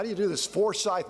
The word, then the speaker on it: Forsyth: do you do this Forsyth no accent on the second syllable Forsyth you know I'm so